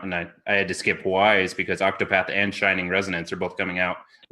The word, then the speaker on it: Ys: I've heard Wise, I've heard East. I don't know. East. East. It's East. East.